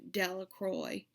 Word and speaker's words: Delacroix: Bobby and Harry Jones and Dickie Delacroix, the village pronounced his name Delacroix, eventually made a pile